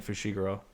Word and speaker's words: Fushiguro: It is definitely Fushiguro.